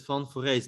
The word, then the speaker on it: van Foreest: say it yeah i i pronounce it fun for race but i think it's